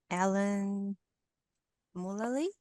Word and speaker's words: Mulally: I remember you had a guest speaker 3-4 months ago, Alan Mullally. That's Yes. the Mulally, correct way to say it.